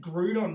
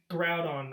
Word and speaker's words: Groudon: that saying right group i've been saying it grew on my whole life have i been saying it wrong yes it's riled on groudon ah that's okay i